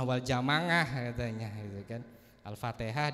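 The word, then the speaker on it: الفاتحة: Jamaah katanya gitu kan Alfatihah disebut Alfa alfatikah maka Abu ubaid qasim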